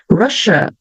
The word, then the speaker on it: Russia: Russia, sh. Double S, duplo S vai ficar um som de sh, ok?